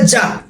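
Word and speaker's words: ز: অনেকে জিম এবং জায়ের মধ্যে প্যাচ লাগিয়ে দেয়, জিমকে বলে জিম আর জাকে বলে যা।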